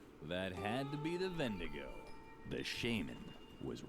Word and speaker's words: Wendigo: had to be the vendigo the shaman was right he really had a beastly stench they pronounced it vendigo at that point am